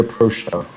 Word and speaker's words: Aprosia: Today we have Tino's Ranch dressing and this random kid with a mic who is fighting the Aprosia, which rhymes with ambrosia.